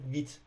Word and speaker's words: Vite: فکر کنم نشون نمیده تلفظش به صورت فرانسویه حالا فرنچ ولی به صورت ویت تلفظ میشه حالا نمیدونم چرا نشون